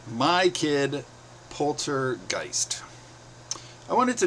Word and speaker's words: Geist: Geest. No, my last name is pronounced Geist, with the long I as in poltergeist.